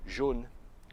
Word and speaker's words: jaune: E aí você fala Jô, jaune, jaune.